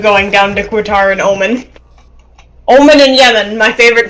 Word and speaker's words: Oman: down to Qatar and Oman. Oman and Yemen, my favorite two countries. Oman, it's Oman. Oh man.